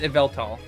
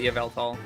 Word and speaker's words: Yveltal: my favorite Pokemon is ielt Yveltal evelt whatever you want to call it I call it Yveltal with like a softish y sound at the beginning um the mascot legendary